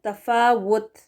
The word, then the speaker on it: تفاوت: اس کی سپیلنگ تفاوت ڈبلیو کے ساتھ وہ کریکٹ ہے، تفاوت وی لگا کر پڑھنا غلط ہوگا، تفاوت حمزہ پیش لگا کر پڑھنا یہ بھی غلط ہوگا، او والی آواز نہیں.